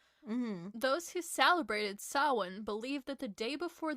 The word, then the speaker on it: Samhain: Celtic festival of Samhain, which most people typically mispronounce as Samhain. I think I did that in one of these episodes. Or to my sister, I don't remember. How do you pronounce it? Samhain. Samhain.